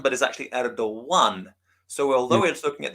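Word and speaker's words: Erdoğan: It's actually, the way they spell it is with this special Turkish G, and the same name as Erdogan, which is actually not pronounced Erdogan, but is actually Erdogan.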